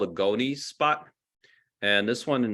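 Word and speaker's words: gonys: that red on the bill is called a goni spot and this one in the center here has a pretty big gony spot the gonis is spelled g-o-n-y-s um and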